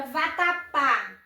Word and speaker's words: vatapá: A letra A, nós estamos diante da palavra vatapá. Qual é a sílaba mais forte? Pá, que é a última sílaba.